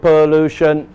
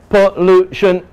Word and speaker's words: pollution: word pollution right now pollution three syllables pollution is it pop this is the key word pollution is the key word this is the strong sound the u that is where the voice will fall is there a lot